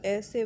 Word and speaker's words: essay: Compare the verb to essay with the accent on the second syllable means to attempt or try.